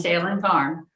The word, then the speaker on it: Salem Farm: Am I pronouncing this right? Salem Farm Modern? Yes, Salem Farm.